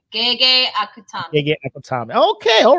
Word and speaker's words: Gege Akutami: Gege Akutami.